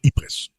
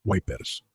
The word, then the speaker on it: Ypres: Aunque se escribe Ypres, la pronunciación francesa es Ypres. Aún así, los ingleses que lucharon allí a menudo llamaban a la ciudad Wipers.